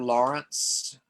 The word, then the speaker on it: Laurents: Do you know the name Arthur Lawrence? I know the name is ringing a bell. Well, the last name is spelled Laurents.